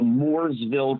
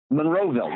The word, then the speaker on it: Monroeville: it's um uh at the I gotta always pronounce the town right the Moorsville Convention Center Monroeville Monroeville Pennsylvania okay and it's got Richard drus